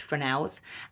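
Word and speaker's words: Fresnel: could also have frels they're spelled Fresno so if you think Fresno in your head um but they're pronounced frels and these sort of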